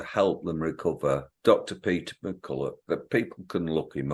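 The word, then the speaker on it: McCullough: Peter McCulloch, that people can look him up. I might be saying it, I pronounce it McCulloch, but it might be McCulloch. O-U-G-H.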